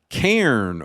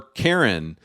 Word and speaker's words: Cairn: Cairn or Karen. The funny thing about this game is I think they pronounce it Karen.